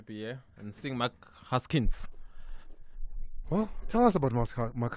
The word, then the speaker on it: Haskins: Mark Haskins.